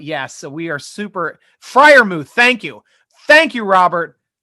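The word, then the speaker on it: Freiermuth: for once friarmuth okay i'll say friarmuth from now on i got that one locked in especially when you spell it differently i've got it down so pat friarmuth we're looking and that makes sense now it sounds like a good german name when you say it like that so here we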